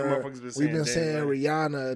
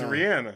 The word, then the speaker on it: Rihanna: we've been saying Rihanna name wrong for years. Apparently It's her name is Rihanna.